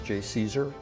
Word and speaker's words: JCESR: I'm director of the Joint Center for Energy Storage Research, which we pronounce JCSER, at Argonne National Laboratory.